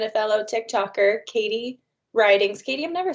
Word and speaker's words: Ridings: a friend and a fellow tick talker katie writings katie i've never said your last name out